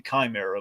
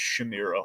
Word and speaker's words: Chimera: anyone and uh so it's supposed to be Chimera but it's kind of pronounced Shamira all over so I